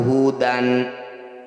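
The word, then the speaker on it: هدى: Cara bacanya bunyi fathah tanwin kita ganti jadi fathah panjang. Jadi awalnya wa ja'alnahu hudan. Ketika dihentikan wa ja'alnahu huda. Panjangkan 2 harokat saja, jangan berlebihan.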